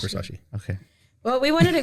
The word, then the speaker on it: Versace: Yes, it's Versace.